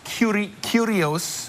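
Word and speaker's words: Kurios: I had a chance to go behind the scenes of Cirque du Soleil's new show, Curious, pronounced Curios.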